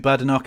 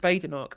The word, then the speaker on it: Badenoch: The thing is, I know from watching Kemi so much that her name's pronounced Badenoch, and I know full well she absolutely hates it when you call her Badenoch, because it means you can call her Bad Enoch.